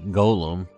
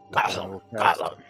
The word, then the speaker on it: golem: Thank you for pronouncing it Golem, by the way, and not Gollum. Gollum. Guild Wars 2 drives me fucking nuts because everybody says Gollum when it's a golem.